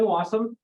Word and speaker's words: Wassum: So I'm Wassum. It rhymes with awesome.